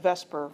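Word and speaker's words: VSEPR: vspr for short and we tend to pronounce that Vesper even though the E and the S get mixed up in there so veence shell electron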